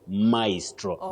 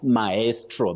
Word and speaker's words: maestro: But when we have a very great performer especially of music and all that you'd call that person a maestro maestro not maestro that we hear locally but you know the